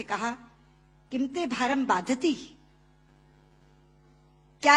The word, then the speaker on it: बाधते: कि राजा, मुझे ये भार कष्ट नहीं दे रहा जितना आपके मुंह से बोला हुआ बाधती शब्द कष्ट दे रहा है, क्योंकि बाधते शब्द का अशुद्ध उच्चारण आपने किया है। ये शब्द बाधते होना चाहिए।